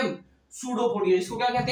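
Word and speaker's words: pseudopodia: तो इसके अंदर पहला पॉइंट आपको दिख रहा होगा, pushes out finger like projection called सूडोपोडिया। इसका पी साइलेंट है, इसको क्या बोलते हैं? सूडोपोडिया। क्या बोलते हैं? सूडोपोडिया। ठीक है।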